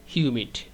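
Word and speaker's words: humid: এরপরের line it's নট এট অল হিউমিড। এটা হামিদ না। উচ্চারণটা হচ্ছে হিউমিড। ইটস নট এট অল হিউমিড।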